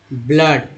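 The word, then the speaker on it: blood: है heart rate and ब्लड, double O का उच्चारण अ के रूप में हुआ है ब्लड, pray S यू आर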